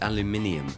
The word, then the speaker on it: aluminium: No, aluminum. That's how it is spelled. It's aluminium.